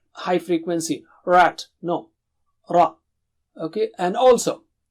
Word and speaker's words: رَ: And also, remember, it should be thick. Ra is thick. Ra is thick. You see the difference between rat and rot? Huge difference. Here the meanings don't change, but it is not nice. You have to say ra as thick. Arabic ra is between Mexican and English ar.